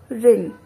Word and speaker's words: wring: Next word रिंग WRING रिंग एठी हमरो W हमरो साइलेंट अछि आमे कोन पढिबो प्रोनाउंसिएशन हेजबो कि रिंग ओके।